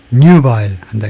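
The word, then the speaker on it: nubile: 뉴바일에 그리고 발음은 앞에다 엑센트를 주고 뉴바일 한다 그죠? 뉴바일. 그래서 뉴바일이 우리말로 예.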